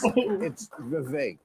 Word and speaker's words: Vivek: It is Vivek, because I heard him do a rap and he said it rhymes with cake.